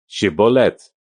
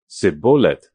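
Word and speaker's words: shibboleth: If he replied, "No," they said, "All right, say Shibath." If he said, "Sibolith," because he could not pronounce the word correctly, they seized him and killed him at the fords of the Jordan.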